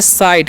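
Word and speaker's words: cite: तो इसे क्या पढ़ेंगे इसे हम पढ़ेंगे साइट क्या पढ़ेंगे साइट यानी कि सी काचन स आई काचन आई और टी का ट तो हो गया साइट और साइट का मतलब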